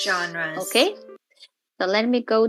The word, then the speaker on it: genre: of our spelling rules the G sounds like a j so we use the soft G rule knowing that when G